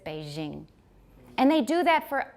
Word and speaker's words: Beijing: Zsa Gabor Jean Dom so when we say a je they said Beijing and they do that